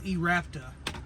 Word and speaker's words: eRapta: it in so you I know I've been saying the name wrong on this it's erapa I've been saying it wrong but anyways this is